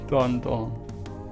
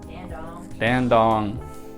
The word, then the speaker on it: Dandong: old hotel control panel so I've been saying it wrong the whole time the city's name is d d dandong dandong yeah it does I